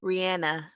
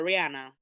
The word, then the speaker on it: Rihanna: She pronounces her name Rihanna. We are Caribbean people. We must speak properly. That's as good as my patois will be. Jamaicans is gonna call her Rihanna, whatever the hell it's gonna be.